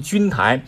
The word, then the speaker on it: 钧台: 台呢又叫君台，当然有的这个读音呢把它读成君台，君台呢